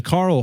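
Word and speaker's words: Karel: in 197 to to Carl Hoka spell very strange it's k a r e l for Carl um okay Carol it's it's spelled like Carol but it's Carl okay yeah um he's an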